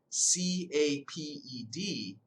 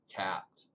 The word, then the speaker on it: capped: Now make sure you put the double consonant, because if you spell it C-A-P-E-D, that's going to say caped, and we want it to say capped.